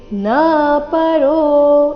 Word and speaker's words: ನಪರೋ: ನಾಯಲ್ಲೋಕೋಸ್ತಿ ನಪರೋ ನಾಯಲ್ಲೋಕೋಸ್ತಿ ನಪರೋ ಇಲ್ಲಿ ನ ಪರೋ ಈ ರೀತಿ ನ ದೀರ್ಘ ಮಾಡಬಾರದು ನಪರೋ ಈ ರೀತಿ ಬರಬೇಕು ನೋಡುವ ಕೊನೆಯ ಚರಣ ನ